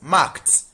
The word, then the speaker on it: marked: This is marked. The E D here is pronounced as T. Marked.